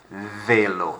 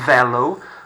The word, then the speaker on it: vélo: Vélo. Not vélo. Notice that there is an accent on the E. Vélo. Makes it a bit of an A sound.